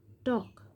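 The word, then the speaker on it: talk: এল এল এর silent letter হিসেবে সি এ এল F calf calf মানে বাছুর গরু বাছুর সে বাছুর টি এল কে টক।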